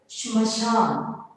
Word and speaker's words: श्मशान: छात्र आज मैं आपको श्मशान, हिंदी में प्रोनाउंसिएशन शमशान।